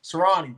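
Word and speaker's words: Sirianni: I don't want to pronounce this dude's name, son. Serrani, there we go.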